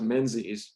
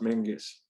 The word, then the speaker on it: Menzies: we've anglicized it to menzies because it's spelled that way m-e-n-z-i-e-s um in scotland it's actually pronounced menges uh as though there's a kind of a swallowed g sound um so archibald mingus as i said was